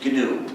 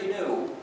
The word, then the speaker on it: GNU: The word GNU, the name of this animal, is used in countless word plays because according to the dictionary, the G is silent and it's pronounced new.